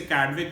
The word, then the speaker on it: Chadwick: अब तीसरा इनका स्टूडेंट, थॉमसन का स्टूडेंट गोल्डस्टीन का स्टूडेंट कैडविक, इसे कैडविक प्रोनाउंस करेंगे, स्पेलिंग है CHADWICK, राइट।